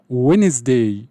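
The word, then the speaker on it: Wednesday: لا تز تز ت الاربع وينز وينز الدي ما بتتنطق وينز الخميس س س س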